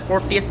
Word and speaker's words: Porteus: If I'm not wrong, yeah, it's pronounced Porteus, P-O-R-T-E-U-S.